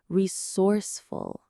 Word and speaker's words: resourceful: The stress is right in the middle on that source part. Resourceful. It sounds a bit like the word source, which means where something comes from and full. Full of sources.